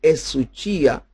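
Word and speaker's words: ἡσυχία: Para el creyente, esta expresión, esta palabra griega que se pronuncia esuchia, se usa de esa calma producida por Dios que incluye una tranquilidad interior que apoya a la acción apropiada.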